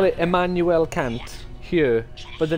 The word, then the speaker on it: Kant: If you don't pronounce the A as an A and more of a U, then it's a little bit different of a situation.